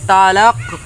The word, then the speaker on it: তালাক: দাড়াইলে এই জায়গায় কলকলা সহিত পড়তে হয় এখানে উচ্চারণ হবে তালাক তালাক ঠিক আছে এই যাত্রায় তোরা দুইজনেই